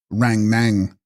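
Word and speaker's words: Rang-snang: Text, Ran Snang, pronounced Rang Nang, one's own mental visions or thought forms.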